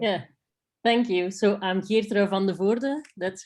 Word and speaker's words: Geertrui van de Voorde: So I'm Geertrui van de Voorde. That's how you pronounce it.